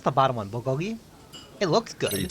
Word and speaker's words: bulgogi: How do you pronounce the bottom one? Bulgogi.